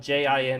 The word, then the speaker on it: Jin: So the English actors pronounce his name as Jin, but I'm assuming it's G-N, spelled J-I-N in English. So his name would actually be pronounced Jin, because J-I in Japanese is pronounced G.